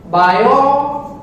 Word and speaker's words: Biot: बायो यहां पे T silent है तो that is बायो showers law.